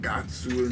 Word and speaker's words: Guts: It's because the way that it's pronounced, like the way they say it is like Gatsu in Japanese, so they must have heard the Japanese dub, not known anything about How Japanese is.